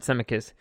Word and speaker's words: Zemeckis: it will be co-written and directed by Roberts Emmerich semi-kids I'm sorry that's how you say his name Robert Zemeckis for the who is a legit director dude